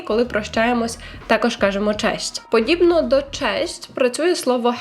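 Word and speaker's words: cześć: тому що знову ж таки багато хто неправильно вимовляється слово кажуть це честь тому обережно слухаємо уважно честь честь честь одночасно означає і привіт і па-па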